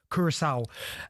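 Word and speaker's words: Curaçao: you say it Kev because you're your Kurissau and Steo McLaren obviously as well resigning.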